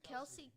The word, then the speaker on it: Kelce: Kelce.